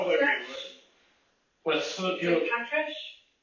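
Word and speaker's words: Patrasche: With, you know, Patrish? Patrash. You sure about that? I thought it was with an E. Patrish. No, the E is silent. There's an E at the end. There is. Patrache.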